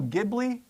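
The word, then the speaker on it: Ghibli: And the pronunciation in the different language, the word they are trying to get that name from is actually the G and not the the J. So some people say that that they should be the G pron Gibli because that's where the uh the original how the original word is pronounced.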